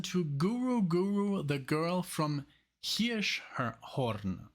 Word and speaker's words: Hirschhorn: So now we're gonna listen to Guru, the girl from Hirschhorn. That's how you say it in German, Hirschhorn. But I guess in English it would be Hirschhorn.